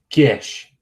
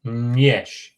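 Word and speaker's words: ĝiš: That means that's our way of saying that that G is actually pronounced ng.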